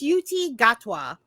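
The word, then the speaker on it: Ncuti Gatwa: It's Yuti Gatwa. Mm-hmm. You looking at the pronunciation this entire time?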